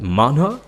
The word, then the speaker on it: manhwa: That's what you say. That's how you say it. Manhwa.